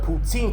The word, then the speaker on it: poutine: saying the word of poutine correctly. It's not poutine, it's poutin.